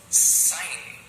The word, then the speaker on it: sign: When IGN come together, then I has a long vowel sound and G is silent.